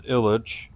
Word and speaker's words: Ilich: So, your first name is pronounced Illich. So, yeah, my first name is Illich.